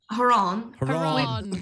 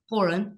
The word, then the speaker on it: Horan: Well, we've been interacting a little bit since I pronounced his second name wrong. How did you say it? Horan. Which is actually still naturally coming out every time I say it. It's a process to say it properly. Horan. It's how I imagine the Queen would say it.